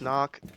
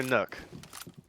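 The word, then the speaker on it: Nøkk: Thinks about going off the knock and then goes back onto it. Also, is it knock or nook? Believe it's Nook. I think that's the Danish pronunciation.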